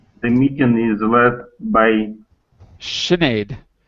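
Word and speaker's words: Sinéad: Anyway, it's an Irish name. That's why it's pronounced differently than it looks.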